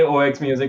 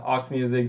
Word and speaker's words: 0xmusic: that right yep we say ox music ourselves sometimes so you're completely fine aux music xerox music ox music all all work this is a